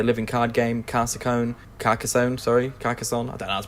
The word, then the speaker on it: Carcassonne: the Rings the living card game car Ciccone Carcassonne sorry Carcassonne Adela's pronounce it munchkin and Catan I've played the